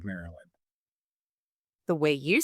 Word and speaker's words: Maryland: Because there's 3 syllables in the word Maryland.